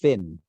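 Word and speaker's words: Fionn: And Fion Whitehead. I think pronounced Finn.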